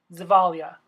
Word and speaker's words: Zavaglia: Casey the vogue alia I always try to pronounce her name correctly but Zavala I said is above gold yeah yeah I messed it up it's evolved yeah there's silent G in there well anyway today she